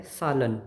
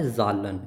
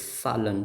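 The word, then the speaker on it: Zahlen: सालन। नॉट जालन। इट्स सालन। स प्रोनाउंस किया जाएगा बिकॉज़ इट्स वोवेल हियर।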